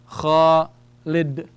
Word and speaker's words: Khalid: That's kha with an alif. So that gives me kha. Lam kasra is li. And then we have dal. Alright? Let's say we don't put anything for the dal. We put a sukoon. So if you have nothing on the dal, we just take the sound of the letter. It's a d. So we have Khalid.